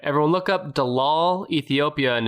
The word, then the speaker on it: Dallol: Everyone look up Dalal, Ethiopia, and it's spelled Dallol.